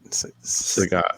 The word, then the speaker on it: Sagat: Sagat.